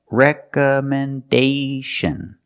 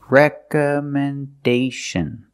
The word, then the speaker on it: recommendation: Rec recommendation letters recommendation this word has five syllables dist stress is on the first re recomendation and the fourth syllable is stressed recomendation again recommendation recommendation letters so again the word is not pronounced recommendation it's pronounced recommendation recommendation letters today we're going